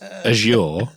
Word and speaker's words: Azure: It's Azure and Americans say it wrong and poison us. Bro, you were the one who was saying Asher just two seconds ago.